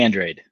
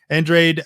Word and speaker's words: Andrade: you don't it's Android Billy Andrade no no you don't read I mean it's phonetically exactly looks like that and sounds like that I guess it might